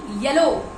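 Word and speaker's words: yellow: बल्लू नहीं blue blue येलो येलो नहीं एलो नहीं येलो ग्रीन नहीं ग्रीन इन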